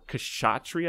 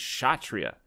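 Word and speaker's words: Kshatriya: sanskrit is shatria or kashatri i've been told by my indian friends stop saying the k it's just shatria so it's chatria there is a k silent k to start that one out that's the warrior then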